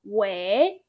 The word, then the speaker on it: 为: Okay, did you realize this part, same character, pronounced as second tone wei? This part, fourth tone, it's say as wei, wei.